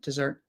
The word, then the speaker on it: dessert: it should be awah sound or a dessert dessert dessert let's check let's check dessert pronunciation yeah yeah it's awah sound so d